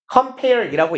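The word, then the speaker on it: cf.: 취급을 합니다라는 거요 그리고 아래쪽에 CF 써 있는데 얘는 보통이라고 읽어요 라틴어 하고 conf이란 단어인데 그냥 CF고 쓰고 compare이라고 있습니다 비교해 봅시다예요 우리 개념으로 치면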